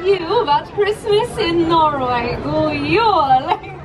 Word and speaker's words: God jul: God jul! There we go. That is how you say Merry Christmas in my country.